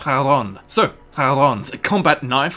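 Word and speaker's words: Charon: Fairman of Hades in Greek mythology which is pronounced Haron so har a combat knife with a damage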